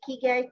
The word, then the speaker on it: ikigai: Ikigai Coach?